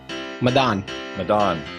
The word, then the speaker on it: Madaan: Hey, how do I pronounce your last name again? Madaan.